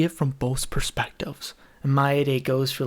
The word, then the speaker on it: Maeda: You said Mata, Maeda, and Maeda. His name is Maeda, dude. Maeda? Hey, I'm glad you're paying attention, dude. It's spelled Maeda, but I think the MC calls him Mata.